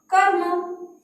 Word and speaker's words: कर्म: अब इनको पढ़कर देखो, सब हमारा शब्द क्या बना, कर्म। क्या बना, कर्म। हम इसको इस तरह से थोड़ी पढ़ सकते, कर्म, इस तरह से नहीं।